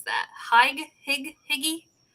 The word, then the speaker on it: hygge: Have you heard the term Hygge, but it's spelled h y g g e, but Hygge is how you pronounce it.